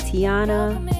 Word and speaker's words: Tiana: First of all, how do you say your name? Is it Tiana or Yeah.